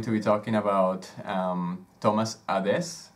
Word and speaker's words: Adès: Today we're going to be talking about Thomas Adès, right? Is that how you say it? Adès. Adès.